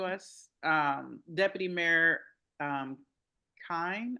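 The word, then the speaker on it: Kihn: Um, Deputy Mayor um, Kine, I believe is how you pronounce his last name.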